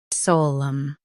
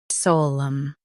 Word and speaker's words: solemn: solemn Now read the syllables shown on the screen naturally. sole um solemn Emphasize s o l and soften um.